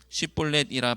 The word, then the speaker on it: 쉽볼렛: 6절 그에게 이르기를 쉽볼렛이라 발음하라 하여 에브라임 사람이 그렇게 바로 말하지 못하고 십볼렛이라 발음하면 길라 사람이 곧 그를 잡아서 요단강 나루턱에서 죽였더라.